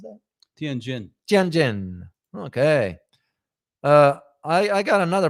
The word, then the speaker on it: Tianjin: I think I have another picture here, Ross, for the city of, how do you pronounce that? Tianjin.